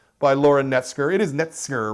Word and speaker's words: Knetzger: It is Knetzger, right? That's I got the pronunciation there? It's Knetzger.